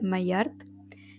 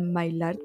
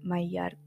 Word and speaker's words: Maillard: Se llama Chantal My Art. En la presentación del podcast la presenté como Chantal My Lart, pero luego estuve averiguando y se pronuncia My Art.